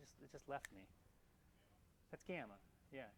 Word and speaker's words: gamma: That's gamma. Yeah, gamma.